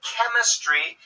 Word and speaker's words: chemistry: especially a Greek background usually the CH has a K sound when pronounced in English so chemistry has a Greek origin